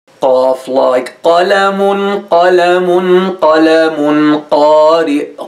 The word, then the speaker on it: قاف: To pronounce it correctly, touch the soft palate, which is the fleshy part in the roof of your mouth. Touch it with the back part of your tongue, like this.